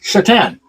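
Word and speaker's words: Šatan: Jason wooly and Miroslav chatan and yes it is spelled Satan but it's pronounced chatan so it's one to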